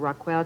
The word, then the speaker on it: Raquel: that was actually because most people I don't think could pronounce instead of roquel they all kinds of